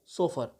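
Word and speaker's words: chauffeur: English का pronunciation आप विशेष तौर पे याद रखें। नेक्स्ट वर्ड इसी क्रम में है सोफर।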